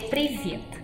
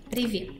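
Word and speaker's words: привет: Não quero assustar, mas a versão mais simples de oi seria privet. Isso é fácil. Privet. Privet.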